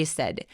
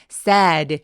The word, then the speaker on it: said: 할머니라고 얘기했다고 해요 she said 여러분 세는 sad 슬프지 않게 길게 발음하지 않아요 굉장히 짧게 라고 빠르게 발음해 주세요 그다음에 the wolf jumped